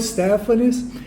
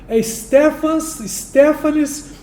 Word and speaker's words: Stephanes: conversa política hoje é com o ex-ministro Reinhold Stefanes e fazia tempo que eu queria conversar com